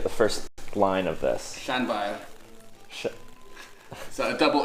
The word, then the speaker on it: Llanfair: So it's Llanfair, and the F is quite hard, so it's Fair, Yeah, F is a V. and you roll your R's. Oh, God, I'm not good at rolling R's.